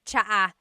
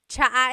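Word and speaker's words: tsaa: that you drink, and it's spelled T-S-A-A. Chaa. Chaa. That's such a Tagalog spelling. I love it. There's the T-S sound and then the double vowel pronunciation.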